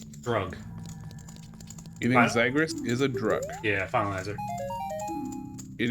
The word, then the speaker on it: Xigris: Next on our list, then, I will spell this one out for you because I think it's pronounced differently than it looks. But Okay. Zygris. The spelling is Xigris.